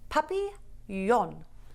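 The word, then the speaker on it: papillon: You say it like this. Puppy yon.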